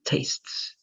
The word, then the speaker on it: tastes: And give me your full example, please, with tastes. Tastes with TS at the end, like this.